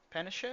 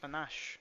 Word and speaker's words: panache: did their work with style and panishes. Panache panache. Panache, that's how you pronounce it.